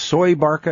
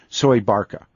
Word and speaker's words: Soebarkah: yes when you first said that and it's pronounced soy Barca as I that's pronounced Barca yes survived that's how they say Indonesian say soy Barca and I've gotten some email this when I